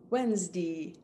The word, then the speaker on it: Wednesday: the week from sunday and it's wednesday wednesday almost but actually quiet